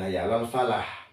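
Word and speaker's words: حي على الفلاح: Alal Falah pakai h Terus kalau kita salah itu pengucapan H besar itu bimayanti sodder jadi dada itu harus berada bergetar itu kan keluar H itu keluarnya dari aksol halqi artinya pangkal tenggorokan jadi apa itu Hayya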